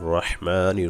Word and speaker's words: রহমান: বিসমিল্লাহির রহমানির রহিম। বিসমিল্লাহর ক্ষেত্রে অবশ্যই রহমান এবং রহিম, আল্লাহ যে দুইটা নাম আছে অবশ্যই সহি করে বলবো। রহমান অর্থাৎ হা গলায় যাবে, রহিম এই হা গলায় যাবে।